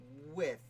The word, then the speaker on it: Wythe: It's a lot of decades of calling him Wythe that I finally have gotten over. Now that I call him with.